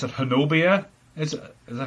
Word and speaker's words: Honobia: What about the residents of, how do I pronounce it? Honobia? Is that how? Honobia.